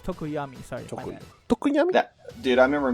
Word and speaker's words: Tokoyami: Sorry, it's Tokoyami.